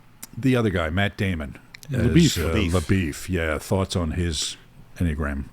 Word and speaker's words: LaBeouf: And the fact that he himself introduces himself as LaBeef, that is the pronunciation that is done, it just rubs me the wrong way.